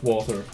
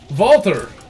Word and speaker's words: Walther: I just now can pronounce Walther. Walther!